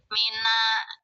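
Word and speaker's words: مِنَ: Sukun ketemu sukun akan sulit pengucapannya. Maka yang ini sukun pertama harus dihidupkan. Jadi tanda sukunnya diganti dengan tanda fathah gitu ya. Mina gitu.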